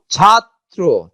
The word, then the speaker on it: ছাত্র: দেখো, ছাত্র, ছাত্র, ছাত্র, এই যে ত ত ছাত্র, দ্বিত্ব করে দিচ্ছে, র ফলা কিন্তু থাকছে সাথে দুই ব্যঞ্জন দুইটা কি হয়েছে দ্বিত্ব।